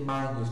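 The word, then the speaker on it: magnus: E o grupo GN soa sempre como NH, então como na palavra manius, aí a gente lê manius, como nhoque, né?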